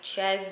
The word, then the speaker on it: Czech: And this one came with, the first one is, can't find my Ches book, but it's spelled like Czechoslovakia, or can't find my Czech book.